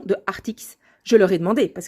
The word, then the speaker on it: Arrtx: anglais c'est Arrtx et donc en français j'en déduis qu'on peut prononcer ça art-ix.